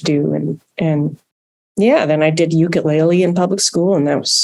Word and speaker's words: ukulele: It's pronounced ukulele in Hawaii, because it's a Hawaiian instrument, or at least one of the ukuleles is a Hawaiian instrument.